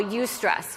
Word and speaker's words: eustress: good stress in Psychology is what we call eustress it's spelled e-u-s-t-r-e-s-s that's the positive stress right and